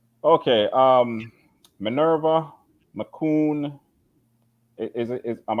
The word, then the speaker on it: McCoon: Minerva McCoon.